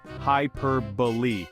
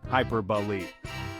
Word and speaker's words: hyperbole: to master it together the correct pronunciation is hyperb let's break it down hyperb the emphasis goes on the second syllable Pier repeat after me hyperb